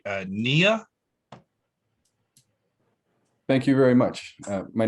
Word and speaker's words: Knia: Next up is, I hope I'm pronouncing this right, Knia. Thank you very much. My name is Knia.